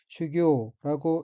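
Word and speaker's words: 修行: 다음 어휘는 한자가 한국어로 수행이며 각기 닦을수, 단일 행자이고 일본어로는 슈교라고 읽으며 슈교는 수행이란 뜻의 명사 또는 수루 자동사 및 타동사입니다.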